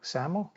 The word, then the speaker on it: XAML: it's based on something we call saml pronounced saml and that is an